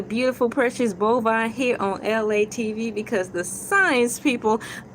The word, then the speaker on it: Elay: It is me, LA, pronounced like LA, like the city.